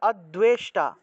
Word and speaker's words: অদ্বেষ্টা: তারপরে দেখুন অদ্বেষ্টা, এখানে দেখুন দয়ের নিচে বফলা থাকায় দুও উচ্চারণ হবে। দয়ের নিচে যদি বফলা থাকে, দয়ের নিচে বফলা থাকলে দুও উচ্চারণ, তাহলে অদ্বেষ্টা।